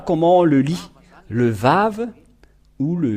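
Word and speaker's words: ו: nous voyons cela euh nous voyons bien que c'est vav la vraie prononciation mais pas waou c'est bien un vav parce que ils ont il y a ceux qui sont on créer le waouh va W c'est un peu étonnant car même si c'est waa ça se prononce vave où que vous soyez c'est toujours le vave et nous allons revoir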